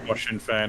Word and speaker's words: Sinn Féin: How do you pronounce it? Sinn Féin.